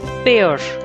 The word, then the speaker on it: pear: now third one is pear it's a fruit pronounced as pear same as pear p a i r which